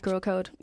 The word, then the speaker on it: Gxrlcode: At Gxrlcode. It is spelled Gxrl. Okay. C-O-D-E. C-O-D-E, yeah. The I is an X.